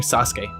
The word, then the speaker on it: Sasuke: He actually pronounced his name Sasuke. I guess the U is silent.